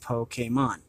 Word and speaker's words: Pokémon: of an expert on all things Pokemon it's pronounced Pokemon over the years I've seen hundreds of new